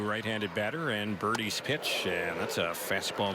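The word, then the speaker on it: Burdi: Here's Birdie's next delivery. That one is inside. The right-hander for the White Sox, mentioned former first-round pick. Last name is spelled B-U-R-D-I. Zach Birdie.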